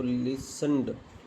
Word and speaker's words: listened: तो लिसन, तो लिसनड, LISNED, है ना। और लिस्टन, लिसनड, इसमें टी साइलेंट है।